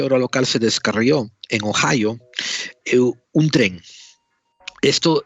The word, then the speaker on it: Ohio: que ha pasado en oío Ohio no sé cómo se dice se escribe oído en español o h i o se dice Ohio la producción fonética qué